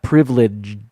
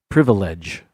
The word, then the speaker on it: privilege: So it's not privilege with a D. Privilege. I don't pronounce that second I either.